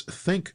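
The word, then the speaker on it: ThinQ: LG uses its Think platform, and that's spelled T H I N Q, to offer a similar app-based control experience while integrating its home smart speakers.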